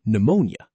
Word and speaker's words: pneumonia: pn is pronounced as an n sound, like in pneumonia.